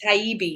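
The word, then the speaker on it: Taibbi: of speakers Mike Rowe Matt Tybee is that how you say his name taibi yeah it's got a little EB in there yeah Michael Michael schellenberger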